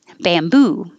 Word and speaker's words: bamboo: And bam will always stay bam. It won't change to bum. Bam, bamboo, bamboo.